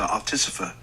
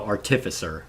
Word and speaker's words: artificer: I've never heard it pronounced that way. Artificer. Did he say? Oh, artificer. I think is how he pronounced it. Interesting. I always pronounced it artificer.